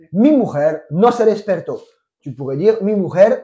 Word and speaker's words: despertó: Et l'accent tonique est sur le O. Mi mujer no se despertó.